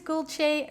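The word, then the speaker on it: Gülce: My name is Gulce, rhymes with Dolce, and this is a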